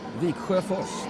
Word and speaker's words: Viksjöfors: Viksjöfors, that's how we say it.